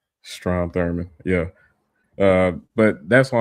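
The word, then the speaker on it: Strom Thurmond: Uh Strum uh Thornberg or however you pronounce his name. Strom Thurman.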